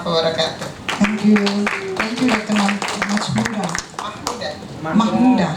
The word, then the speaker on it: Mahmuda: Mahmuda. Yeah, spellingnya with H-I. MSc. Yes, but you don't pronounce the C. Yeah, Mahmuda.